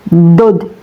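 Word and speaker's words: ضاد: Cara melafalkannya pun lebih sulit ya. DD begitu ya. DD dod itu kalau belum ada harakatnya. Kalau sudah diharakati seperti ini, maka do cara bacanya do ya. Huruf dod ini keluar dari tepi lidah baik sebelah kanan maupun kiri ya, Teman-teman.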